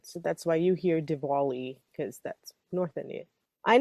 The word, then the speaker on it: Diwali: With a W or a V? W with the Diwali. Deepavali is with the V. Oh. One's South Indian, one's North Indian. So that's why you hear Diwali, because that's North Indian.